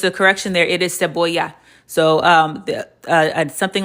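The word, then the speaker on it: cebolla: But also um just a correction there, it is seaboya.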